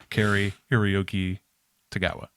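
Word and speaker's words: Cary-Hiroyuki Tagawa: Kari Hiroyuki Tagawa. Excellent Hey.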